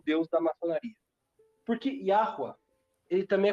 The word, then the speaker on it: Yahweh: Qual é a diferença do Gadu para Yahweh, que é o Deus bíblico? Para quem não sabe, o nome com que se pronuncia o Deus da Bíblia não é Javé, nem Jafé, é Yahweh.